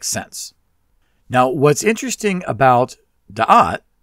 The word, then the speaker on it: Da'at: Now, what's interesting about Da'at, it can also be pronounced Da'ath, by the way, is that